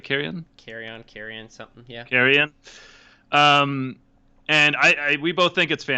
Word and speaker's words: Carrion: Carrion.